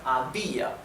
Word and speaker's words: había: So remember again, I is a weak vowel. However, it becomes strong because it's carrying here the strength or the stressing of the word, right? Había.